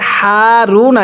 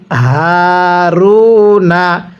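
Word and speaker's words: هَارُونَ: আলু কিভাবে শিখবো ওয়া আলু হারুনা অনেকে এটাকে হারুনা এরকম ভাবে পড়ি এরকমভাবে মুখ দিয়ে বাতাস বের করে এই হাটি পড়লে হাটি সহিহ শুদ্ধ উচ্চারণ হবে না তাহলে কিভাবে পড়তে হবে ওলু হারুনা এরপরে তাহমিলুহুল তাহ দেখুন এই হাটা কিভাবে পড়ছি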